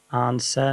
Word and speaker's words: answer: and answer yeah again you don't pronounce the w here it's just answer not answer so the